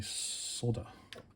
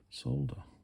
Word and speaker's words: solder: of the solder action still don't understand why americans say solder it's got an l in it solder right so if i